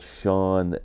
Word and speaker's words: Chan: singer songwriter is um her real name is sha Marshall I believe but she spells Shan c h an like Chan but it's pronounced sha um I first became aware of